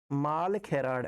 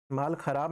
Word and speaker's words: माल खैराड: Second आप लिखना यहां पे माल खैराड है। मालखराब नहीं माल खैराड का मैदान।